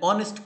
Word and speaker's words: honest: An hour, an heir, an honest clerk, an honorable politician, an hourly payment. We here pronounce hour, not hour, heir, not hair. Honest, not honest. That means here H is silent.